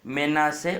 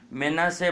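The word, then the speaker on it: מנשה: खिच की आह से मेना से उत्पन्न हुआ मेना से बोलना चाहिए मन स गलत है थोड़ा बहुत मिलता है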